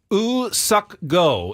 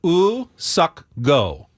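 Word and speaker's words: Woo-suk Go: the South Korean reliever us sucko is what they um the Padres said was the pronunciate correct pronunciation of their new relievers name in the release say it again ooh sucko his first name his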